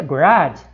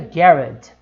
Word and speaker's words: garage: Então, olha só, no inglês americano fica garage, no inglês britânico fica garage. Essa é a diferença. Houve uma pequena diferença na sílaba tônica, né?